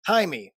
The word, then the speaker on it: Jaime: Jaime. That's how you pronounce it in Mexican.